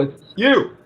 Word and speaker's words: You: How do you pronounce your last name? Simple. It's you.